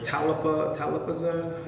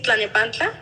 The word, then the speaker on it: Tlalnepantla: Talapazan? You know how to say it. Tlalnepantla. Huh? It's in Tlalnepantla? Yeah, I can never pronounce that word. Talapanta.